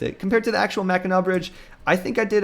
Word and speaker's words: Mackinac: actually spelled like this, like Mackinac, but it's pronounced Mackinac.